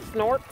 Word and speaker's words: Snorks: Snorks. Spell it.